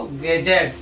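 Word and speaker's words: gadget: कहां साइलेंट होता है यदि डी जी के पहले आए तो जी साइलेंट होगा तो कुछ एग्जांपल लिए जैसे इसको क्या पढ़ेंगे एज इसको ब्रिज इसको गैजेट इसको नॉलेज और जिसको नहीं पता होगा वो क्या पढ़ेगा ईडी जी ई ईडी जी ई इसको क्या पढ़ेगा एडज इसको ब्रिजी पड़ेगा इसको ग गजेट पड़ेगा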